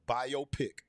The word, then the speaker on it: biopic: my guy out there I learned how to pronounce the word properly now it's a biopic all right he hey